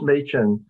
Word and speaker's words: Machin: introduction and uh uh there have been some uh different pronunciations of m-a-c-h-i-n but i think the one that is correct and extend most generally accepted is machine so uh i know